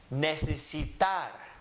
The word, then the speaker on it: necesitar: Just follow the syllables. Ne, se, si, tar. Necesitar.